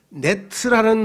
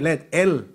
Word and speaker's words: let: 그물을 네트라는데 그물에 걸렸어요 그런 뜻이 아니고, 발음을 잘 들어서 네트라고 안 해요. 심판은 let이라고 그래. let, n이 아니고 let 뭐예요?